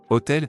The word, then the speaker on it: hôtel: Hôtel is masculine singular beginning with a silent bar oblique vowel sound, so cet is used.